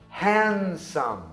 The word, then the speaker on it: handsome: Na palavra handsome, por exemplo, o D ele vem depois de um N e antes de um S. Então, nesse caso, não é a etimologia, e sim o posicionamento, a articulação quando você pronuncia a palavra. Simplesmente a gente engole o som.